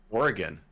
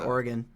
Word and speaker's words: Oregon: Sorry if you're listening to this in Oregon. Yeah, I think I I really hope I'm pronouncing it right because I said I said Oregon and someone like corrected me and they're like it's Oregon and I was